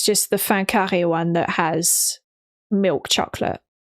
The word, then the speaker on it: fin carré: Oh, okay, so it's fin carré. It's written fin as in the end, F-I-N, and then carré, C-A-R-R-E. Fin carré is how you would pronounce it in French.